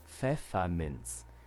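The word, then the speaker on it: Pfefferminz: Feffermens. Feerman. One more time. Feffermens. Feffermens. Yeah. So, there's no there's no T in it.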